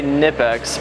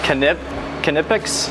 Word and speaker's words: Knipex: I would say Knipex, but it's Knipex?